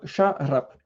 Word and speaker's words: şarap: Donc, du vin en turc, c'est şarap. Ok, alors le S, c'est dit comme ça se prononce ch.